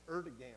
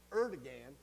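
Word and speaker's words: Erdoğan: It's Erdogan. I always want to switch two consonants, but it's Erdogan.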